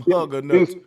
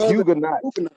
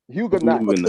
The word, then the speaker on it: Huguenots: He talking about some hugger nuts. It's the Huguenot. Huguenots. Say it right.